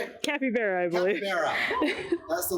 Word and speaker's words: capybara: Where you forgot what a capybara was.